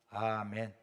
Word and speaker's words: 아멘: 우리는 아멘 그러면 거기는 아민 그래고 우리가 평안 그러면 거기서 핑한 그래요.